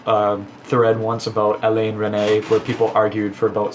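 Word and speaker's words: Resnais: were very compute confused because there was an s in it which is silent interesting they could do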